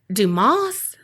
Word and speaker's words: Dumas: He performed for Alexander Dumas? The S is silent, right? He's French. Mm-hmm.